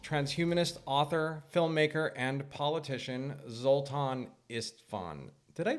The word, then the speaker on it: Zoltan Istvan: To kick off our new interview series, we have a special guest, transhumanist author, filmmaker, and politician, Zoltan Istvan. Did I pronounce that right?